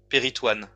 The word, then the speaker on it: péritoine: When you don't see the trema, it is pronounced O-I, wa, one. And I was not sure because I was thinking peritoin, but there is no trema. If there was a trema, it would be peritoin, but here it's peritoine.